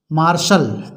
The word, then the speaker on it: martial: T letter के उच्चारण के क्रम में रूल पहला है, टी का उच्चारण सा होता है कब? जब किसी शब्द में टी के बाद आई ए, आई ई या आई ओ आए तो टी का उच्चारण सा पढ़ा जाता है।